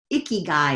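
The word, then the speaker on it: 生きがい: what is my purpose Japanese call it a key guy a key guy is how it's pronounced right there in the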